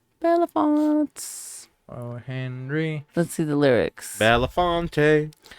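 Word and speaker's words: Belafonte: I can't say the last name after you spell it out it's a b-e-l-a-f-o-n-t-e villafonte Bellefonte Henry let's see the lyrics a hole in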